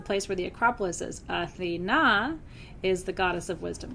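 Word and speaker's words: Αθήνα: In Greek, Athena, with the emphasis on the middle syllable, is the word for the city of Athens.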